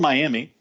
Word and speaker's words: Miami: of miam there and it's spelled Miami right but it's actually miam it's Tribal land for